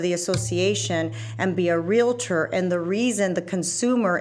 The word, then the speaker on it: Realtor: Let's just end the debate So here. it's Realtor. Okay. It's not Relator, right? And it's Realtor.